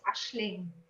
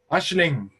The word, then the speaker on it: Aisling: Okay, first of all, I would like you to pronounce my name as Ashling. Ashling. You say Ashling. Yes. Ashling, nice. I like it even more. It's a Celtic name. It's Irish. It's beautiful. I'm half Irish and half German. So the meaning of the name,